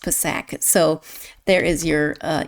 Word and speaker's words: Psak: name and it is with the P pronounced not silent.